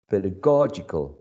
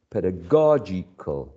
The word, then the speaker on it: pedagogical: of the green option pedagogical pedagogical pedagogical since the last um syllable uh also um it sounds like weak or reduced there's also a very high probability to find a there so uh the correct